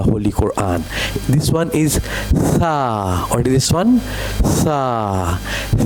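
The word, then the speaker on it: ث: And we will learn its sound that is Tha Bring your tongue between the teeth and read Tha Okay?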